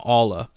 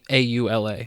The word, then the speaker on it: Aula: Switch Pro, allegedly codename Aula. I think that's how you say it, A-U-L-A, so Aula, yeah.